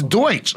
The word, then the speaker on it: Deutsch: The pronunciation for... It's Deutsch.